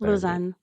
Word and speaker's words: Lausanne: yeah the loan movement I'm not pronouncing that right you pronounce it loan loan yeah uh they well